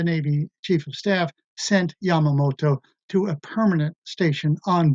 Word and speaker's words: Yamamoto: However, the oil embargo took the power of decision away from the Japanese admirals, in particular Admiral Yamamoto. That's spelled Y-A-M-A-O-T-O, Yamamoto.